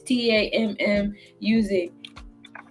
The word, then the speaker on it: Tammuz: So then she had a baby, and her baby was Tammuz. I don't know. I know I butchered that. It's Tammuz.